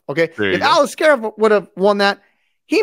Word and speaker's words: Aliskerov: uh if uh alisar help me pronounce that name Al alisar off Alice scar off okay if Alis scof would have won that